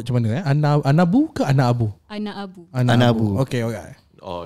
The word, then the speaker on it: Anaabu: Anaabu. Anaabu. Okay. Oh, you have to pronounce both the A's.